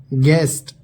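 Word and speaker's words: guest: यू, जब किसी शब्द में जी के बाद यू और उसके बाद वॉवेल हो तो यू साइलेंट होता है। एग्जाम्पल देखिए, गाइड, रहनुमाई। गेस्ट, मेहमान।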